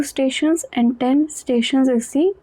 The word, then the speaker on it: station: Il coûte le même prix pour 12 stations que pour 10. Tion is pronounced as sion.